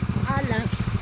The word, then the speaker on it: Alain: Alain. Valent? Alain. Like you say Helen.